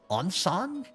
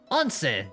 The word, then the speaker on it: Onsen: on-something? Onsen? Onsan? Onsen! That was it.